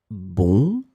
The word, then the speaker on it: bon: In this lesson, we will see together two words that are written differently but pronounced the same way. Bon, bon.